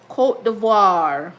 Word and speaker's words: Côte d'Ivoire: Côte d'Ivoire. Did I pronounce that properly?